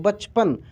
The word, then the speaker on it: बचपन: च का उच्चारण आप इस तरीके से कर रहे हैं कि उसमें अ का उच्चारण हो ही नहीं रहा है, लेकिन च पूरा लिखा रहा है, ठीक ना। तो एक्चुअल में यही ठीक है, बचपन।